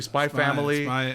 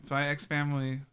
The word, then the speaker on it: Spy x Family: Is it a silent X, like Hunter x Hunter? Spy X Family. What's the vote here, Ivan? Spy Time. How do you say Family. it? Spy Family. Just Spy Family. No, it's a silent. Okay, so silent X.